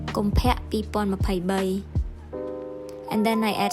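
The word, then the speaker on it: កុម្ភៈ: If you want to know how it's pronounced, it goes like this. Kompek 2023.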